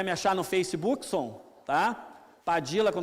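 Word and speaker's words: Padilla: Mas você pode chamar de Padilha, pode chamar de Padija, como se fala no Uruguai e na Argentina, aqui por influência provavelmente muita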